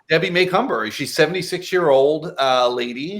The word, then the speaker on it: Macomber: we have Debbie maycumber I always said her name wrong but it's Debbie maycumber joyful M Miracle oh